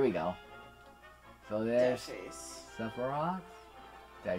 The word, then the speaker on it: Sephiroth: Sephiroth.